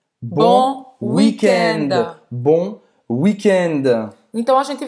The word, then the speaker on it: weekend: Esse D, a gente fala bon weekend.